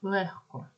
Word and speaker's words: легко: за дзвінкістю або глухістю наприклад слово легко про яке ми вже говорили в транскрипції третій звук х бо х впливає на попередні робить його глухим легко наголос не забуваємо